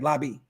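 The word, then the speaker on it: Laube: Yeah, Lobby.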